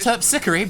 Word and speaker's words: Terpsichore: I'm playing on Miss Terpsichore. It's pronounced Terpsichore, but give that back, and she snatches that out of her hand.